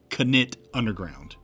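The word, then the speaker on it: Knytt Underground: First, the game is pronounced Knit Underground. It's a Swedish word from a Swedish developer.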